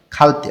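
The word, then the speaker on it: 갈 때: আর ভাচ্ছিম না থাকলে সেটার উদাহরণে আছে খাদা মানে হচ্ছে যাওয়া, দাটা যখন আমি বাদ দেব তখন এখানে শুধু খা থাকবে, এর নিচে ভাচ্ছিম নাই, তাহলে উচ্চারণটা হবে খালতে।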